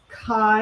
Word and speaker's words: Kai: The scissors I'm using are Kai. I think that's how you say it. K-A-I.